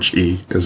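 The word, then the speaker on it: が: There are a few exceptions to this rule, particularly the particle ga is always pronounced with the ng sound, and the element go,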